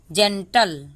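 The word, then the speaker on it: gentle: German फिर यहां प जी के बाद ई लगा हुआ तो इसको हम पढ़ेंगे ज ई को ए पढ़ते हैं एन को आधा न पढ़ते हैं टी को ट पढ़ते हैं एल को ल पढ़ते हैं तो क्या हो गया जेंटल ठीक है इसको हम जेंटल बोलते हैं ओ को ओ प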